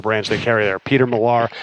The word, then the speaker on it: Millar: Peter Millar. I'm told it's like Kevin Millar, Peter Millar.